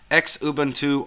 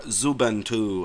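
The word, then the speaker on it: Xubuntu: work and then finally X uban 2 or zuban 2 I like to call it zuban 2 and that features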